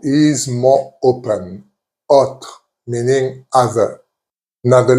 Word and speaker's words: autre: However, there is one word which is autre. As you can hear, I'm not saying autre, I'm saying autre. So the O is more open. Autre, meaning other.